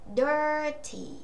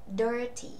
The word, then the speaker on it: dirty: Một, chúng ta sẽ đọc rõ đuôi T ra.